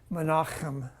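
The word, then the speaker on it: Menachem: any of you heard this is actually manam that's actually how you pronounce that I I was just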